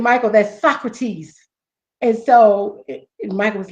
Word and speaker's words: Socrates: he said, Michael, that's Socrates.